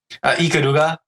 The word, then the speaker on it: Ikaruga: Ikaruga, but you kind of have to put like an emphasis on the R. You have to say it fully Japanese.